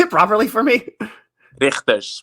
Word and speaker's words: Rigters: Richters, but you can. The G is hard for you.